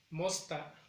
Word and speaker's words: mosta: Mañana sería mosta, igual en la primera sílaba.